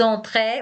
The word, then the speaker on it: entrée: We add an e, the spelling changes, but the pronunciation stays the same.